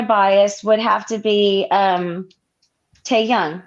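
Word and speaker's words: 태형: Bias, I would say my bias would have to be Taeyoung, right?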